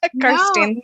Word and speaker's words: Kirsteen: So yeah, I thought maybe Tom would have told you it's Kirsteen. No, I was just guessing. Well, yeah, good guess. You are pronouncing it right.